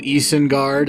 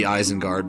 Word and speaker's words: Isengard: uh mid-90s he did to eason guard as he pronounces it even though i think it's actually supposed to be eisenguard but whatever he did two